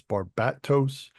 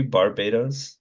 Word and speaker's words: Barbatos: because Because the you broke up the I actually syllables. said Barbados before, but it sounds like the country Barbados Yeah, rather than so I imagine it's Barbados. Barbatos.